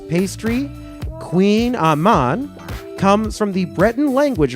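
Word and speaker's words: Kouign-amann: popular French P pastry Queen Aman comes from the Breton language word for bread and blank and I did look up how to pronounce that earlier because I had no idea that's Queen Aman all right sh that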